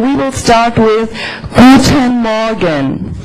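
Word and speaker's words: Morgen: good news is however if you pronounce the r after a vowel so if you have o plus r you don't have to go Moran you just say Moran that's a lot easier and that's the northern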